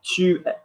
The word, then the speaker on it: tu es: Tu es. Tu es. Great job. Even though we spell it E-S, there's no accent on it.